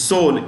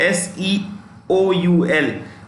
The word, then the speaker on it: Seoul: Tokyo South Korea is sold s-e-o-u-l the E is silent in Seoul okay India of course